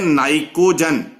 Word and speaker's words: pnicogen: इनको हम बोलते हैं नाइकोजन P जो PNICOGEN, पर नाइकोजन नहीं कहना इसमें, P साइलेंट है यहां।